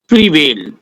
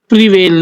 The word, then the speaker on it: prevail: आज का नया वर्ड है प्रीवेल। प्रीवेल नहीं, प्रीवेल। ध्यान रखिएगा, वर्ब है, प्रोनाउंसिएशन का विशेष ध्यान रखना है। पढ़ने वाले इसको प्रीवेल बोलेंगे, है एक्चुअल वर्ड प्रीवेल, जिसकी हिंदी मीनिंग है जीत लेना, प्रचलित में होना, राजी करना।